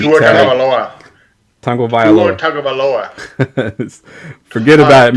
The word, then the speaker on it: Tagovailoa: It's Tungo Vailoa. That's how you pronounce it. I think it's just tongue. Oh. I'm saying Tagovailoa.